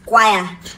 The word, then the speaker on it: choir: For the sake of that word, the CH is pronounced as k. The CH is like k. Again. So pronounce the word, Chibike. Choir.